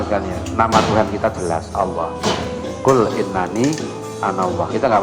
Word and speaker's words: Allah: Saya lihat lagi ada yang nulis apa aja tulis ya, pakai Wono Coroko lah, pakai apa Cina, tetap bacanya Allah.